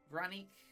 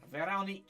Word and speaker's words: Veronique: Veronique Wanderer. Damn. How do you spell that? Veronique. It's French. So, Vanique.